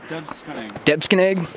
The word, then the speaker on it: Debsconeag: How do you pronounce that first word? Debsconeag.